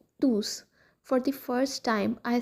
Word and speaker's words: tous: we pronounce it as tus that is the pronounced final s we pronounce the final s we say elontus la.